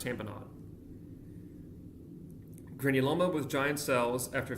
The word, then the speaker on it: tamponade: They don't say lemonade but you know whatever it's pronounced tamponade granuloma with giant cells after ferangeal infection ashoff bodies rheumatic fever.